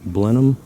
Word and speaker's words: Blenheim: hole and um getting ready to put this blenheim that's how you pronounce it apricot tree in uh sort of